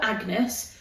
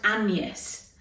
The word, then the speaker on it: Agnes: Her name isn't it's spelled Agnes but it's pronounced Anus. So it's like a Y instead of the G.